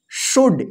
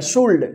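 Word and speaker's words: should: आया है ना तो डी से पहले एल रहेगा तो क्या होगा एल साइलेंट रहेगा तो इसको क्या पढ़ेंगे शुड इसको शुड मत पढ़िए शुल्ड शुल्ड गलत हो जाएगा शुड शुड का मतलब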